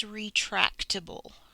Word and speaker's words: retractable: Re, track, ta, that's schwa, bull. Retractable, retractable, retractable, and this says ah.